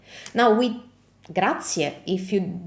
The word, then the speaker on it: grazie: And we pronounce it as grazie, grazie. So remember how I told you for buongiorno, the vowels are the pillars of Italian pronunciation and we never ever skip a vowel?